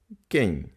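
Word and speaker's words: quem: йдемо в кіно кень кень хто кень хто Кинь Майте на увазі що закінчення м читається носовим так кень хто кень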